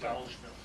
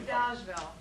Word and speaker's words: Dolgeville: Dolgeville, in Herkimer It's County. It's pronounced By Dodgeville. It's not Dolgeville. It's pronounced Dodgeville.